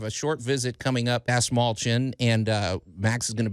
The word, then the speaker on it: Dastmalchian: All right, you guys, we got our buddy Dave Dastmalchian on the phone. I always mispronounce his name. Dave Dastmalchian.